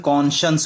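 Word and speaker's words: conscience: कौन सा एन एस देखिए यहां पे साइंस की तरह लिखा हुआ है लेकिन इसका उच्चारण कोजनेस होगा कोजनेस इसका मीनिंग हो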